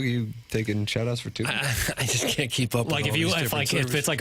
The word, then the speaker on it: Tubi: How do you pronounce this? Dazn. No, Tubi. Oh, Tuby. Tuby.